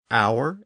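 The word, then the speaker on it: hour: lone word that includes words like honor honest our h o r air h e i r and the American pronunciation of h e RB as herb so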